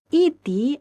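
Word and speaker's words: ائتِ: Nah, tapi iti aslinya tuh i'ti. Kemudian hamzah sukun ini digantikan dengan ya. Jadilah iti. Nah, ini namanya diibdal. Huruf hamzah sukun digantikan dengan ya untuk memudahkan pengucapan karena huruf hamzah itu termasuk huruf yang berat apalagi dia sukun ya, i'ti berat. Nah, kemudian jadilah iti. Nah, berarti asalnya itu i'ti. Hamzah dirubah menjadi ya, diibdal ya, digantikan dengan ya.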